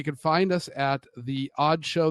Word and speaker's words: (G)odd Show: find us at the odd show the g is silent it is God D